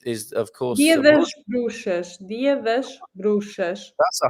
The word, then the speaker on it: bruxas: Bruxas. Yeah, exactly. Bruxas. Bruxas. Okay. Yeah, it's like you need to, Everybody at home, please. Bruxas. Bruxas. Okay, yeah, bruxas. it's like a shush.